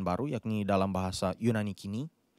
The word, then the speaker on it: koine: yakni dalam bahasa Yunani kini. ada yang melafalkan Yunani koine, tetapi sebenarnya kalau pelafalan Yunani modern pakai Yunani kini atau Yunani kine dalam bahasa Yunani lebih lama.